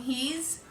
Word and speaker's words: he's: However, the S in he's and she's is a Z sound.